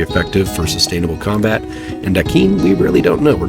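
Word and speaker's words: Aquin: I'm just going to pronounce it Akin for my gameplay, because I think that Latino pronunciation sounds really awesome. I'd imagine Portuguese might have a similar pronunciation of that name as well.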